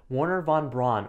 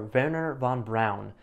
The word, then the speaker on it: Wernher von Braun: So he ended up reaching out to a famous rocket scientist at the time known as Wernher Von Braun, or Wernher Von Braun, depending on the pronunciation you'd prefer.